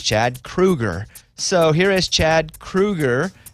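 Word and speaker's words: Kroeger: frontman for nickelback and it is kruger right because you know 50 of the internet says kroger 50 of the internet says krueger okay it's it's krueger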